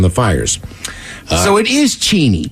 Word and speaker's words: Cheney: the subject is uh Cheney or Cheney guys it took me a while but it's not pronounced like the president that would be the vice president it's only about 15